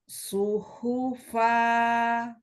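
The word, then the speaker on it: صحفا: ayyuuhufa coba lagi coba hati-hati shnya sekarang su suhufa ya Jadi hati-hati shadnya ya suhufa suhua Nah seperti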